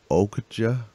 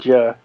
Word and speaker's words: Okja: Did you not see the trailer for the new Netflix original movie, Okja? I think that's how it's pronounced. Okja.